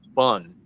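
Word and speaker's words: Bon: I heard the name bun Bo n but it's pronounced like a hotdog bun and my god you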